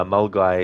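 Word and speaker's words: Milngavie: uh is one uh M guy is another that have a weird pronunciation yeah cuz um you look at the way that it's spelled and there isn't really much in it that would make you think it's m guy cuz you've got you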